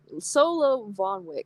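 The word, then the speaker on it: Solowoniuk: something like that Solo solo Von Wick I guess the W is pronounced as a v I'm looking at it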